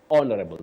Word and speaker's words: honorable: our leaders say honorable honorable that is the right pronunciation the H is silent so we don't say